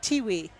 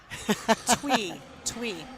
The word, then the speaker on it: Thuy: It's pronounced Tiwi. Twee. Is that Twee? Twee. See, I can't even read. Okay, Twee. So All sorry.